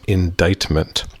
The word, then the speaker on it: indictment: indictment IND IC t MEA and T is pronounced indictment it is a formal accusation of a crime